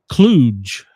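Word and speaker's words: kludge: Cluge. A what? Cluj. K L U D G E pronounced cluge.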